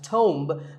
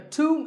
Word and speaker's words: tomb: similar-sounding word is tuned it's often wrongly pronounced as tome but the bee is silent and the O is pronounced with an O sound so to a tomb is a place like